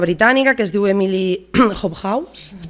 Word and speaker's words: Hobhouse: Hi ha una activista britànica que es diu Emily Hobhouse, es pronuncia així, que ella va millorar la vida